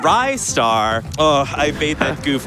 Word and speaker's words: Ristar: donation from rizar saying restart is pronounced R star thank you Mackie for